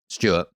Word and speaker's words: Stuart: coffee shop or whatever I have to say it twice and then give up and pronounce it as close to an American way as possible so I'd go Stuart Stewart because if you heard